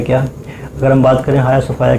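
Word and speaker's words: Hagia Sophia: किस देश ने हाया सोफाया, इसे कुछ लोग हैजिया सोफाया भी बोलते हैं, बट इसका जो करेक्ट प्रोनाउंसिएशन है वो हाया सोफाया है, संग्रहालय को मस्जिद में बदल दिया है।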